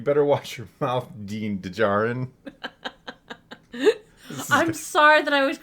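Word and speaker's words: Djarin: you're pronouncing it but why put the D there at all if if you're supposed to ignore it well you really aren't if the sound is in there it's just hard to it's a very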